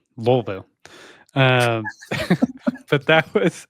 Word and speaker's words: Louisville: equip Expo and uh Louisville Louisville Lou yeah Taxi Driver taught us you have to say it like it's uh you have marbles in your mouth wolv that's right weville um but that was